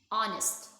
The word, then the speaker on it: honest: Again, attracted, dazzling, fabric, greed, honest, the H is silent, requested, sword, and trudged.